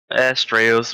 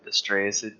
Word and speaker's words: Astraeos: Alright, and now I get to attempt to pronounce our latest guest and staff member's name. Astraeos? Did I say that right? Astraeos or Astraeos, it's fine.